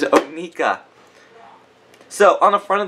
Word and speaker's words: Onika: and now we have anuka or NAA I'm sorry I said it wrong oh my dear God I knew it was going to happen I am so sorry it is Ona so on the front